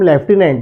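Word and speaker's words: lieutenant: बोलते हैं हम लेफ्टिनेंट, लेकिन लिखते वक्त हम थोड़ा ध्यान रखिए।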